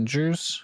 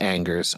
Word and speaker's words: Angers: And Angers, it's not pronounced Anggers.